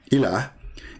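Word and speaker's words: إله: But al-ilah, al-ilah, ilah, is simply E-L, and there is little H at the end, like a sound of a music. Ilah. Still, it's ilah. It's not Allah. It is Il. Idiot. Il. Ilah. That sound at the end, the little tiny H, it's not really even an H. It's like a music sound.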